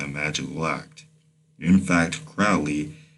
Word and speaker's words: Crowley: In fact, Crowley, his name rhymes with holy, says that every intentional act is a magical act.